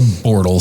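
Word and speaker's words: Bortle: Yeah, it it's actually called the Bortal scale. And you spell that?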